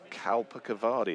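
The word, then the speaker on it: Kalpakavadi: And your favorite curry house in York is Kalpa Cavari if that's the right way to pronounce it. It is. Yeah.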